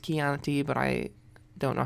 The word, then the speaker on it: Chianti: much Chardonnay Sauvignon Blanc Chianti which is actually pronounced Chianti but I don't know